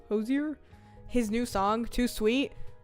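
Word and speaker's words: Hozier: the ho hosers is you say his name Hosier his new song too sweet love it 10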